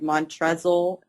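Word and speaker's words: Montrezl: whoever the hot guy mon tesle I know it's a silent L but I think it's hilarious that he has an L the guy from Louisville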